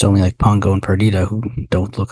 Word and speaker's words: Perdita: It's not the same, but it only struck me as I was writing the notes that Perdita rhymes with Anita.